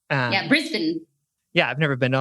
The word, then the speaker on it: Brisbane: writing from brisbane australia brisbane i said it right i had to like remind myself don't say brisbane uh yeah brisbane yeah i've never been